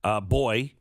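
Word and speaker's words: boi: Boy, but it's spelled with an I, not a Y.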